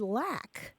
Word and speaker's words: lack: k lack LA but it's pronounced in the South and South Midlands often as like oh yeah so it's